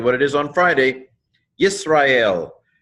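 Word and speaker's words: ישראל: Yisrael, yod, hirik, seen, silent schwa. This syllable's closed. Yis, resh, kamatz, aleph, sere, lamed, yisrael.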